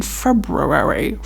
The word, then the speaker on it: February: There's no first R, but the way it's spelled, it's like February.